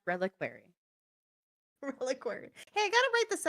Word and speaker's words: reliquary: It's pronounced reliquary.